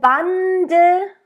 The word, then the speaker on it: Bande: Alle Bande, Bande, and again, it's that alle Bande. It's that at the beginning. It's not and it's not e. It's somewhere in between. Bande, and it's short.